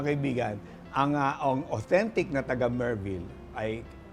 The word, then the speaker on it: Merville: Ay kasi mga kaibigan ang authentic na taga Merville ay kayang banggitin at i-pronounce ang V ng Merville.